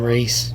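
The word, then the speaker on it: Rhys: You got to tell me about that sometime, Reese. There she is right there, DA. Her name is spelled R-H-Y-S, Reese87.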